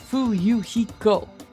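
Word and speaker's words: Fuyuhiko: My first name is pronounced Fuiko.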